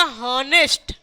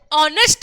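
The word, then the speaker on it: honest: पता है तो वो क्या कहेगा, वो कहेगा हॉनेस्ट, हॉनेस्ट मैन, लेकिन वी all know H silent है, हम इसे ऑनेस्ट मैन कहते हैं।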